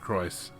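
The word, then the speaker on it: Crois: and speaker McDowell okay so they pronounce it Christ okay of them are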